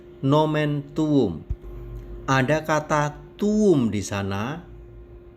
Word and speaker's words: tuum: Nomen tuum. Ada kata tuum di sana, T-U-U-M. Cara membacanya di antara dua U seperti ada W kecil. Jadi tuum atau U-nya dipanjangkan.